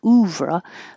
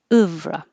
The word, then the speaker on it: oeuvre: Oeuvre, oeuvre. It's the weird like took, and not oo like who. So it's not oeuvre, but oeuvre.